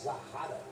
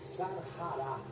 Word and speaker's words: Sarará: as imagens da sarará vou fazer uma correção aqui falar zarara mas a pronúncia correta é sarará ela está eh desaparecido